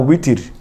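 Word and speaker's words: وتر: বলি নববী বলি কিন্তু বাংলা ভাষায় ওয়াও উচ্চারণ করা সম্ভব নয় প্রায় তাই আমরা বলি বিতির নামাজ আসলে কিন্তু বিতির না উতির উতির কিন্তু বাংলা উই নাই যেমনিভাবে আরবি ভাষায় কোন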